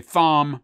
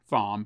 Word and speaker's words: Thom: In Mr., I love saying his name this way, Thom Matthews. I know it's not Thom, but it's the way it's spelled.